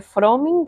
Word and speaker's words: Frömming: El el apellido Froming también es alemán un poquito cómo es el el origen conis en la O. Sí. Ah, no sé. Se pronuncia froming así. Freming.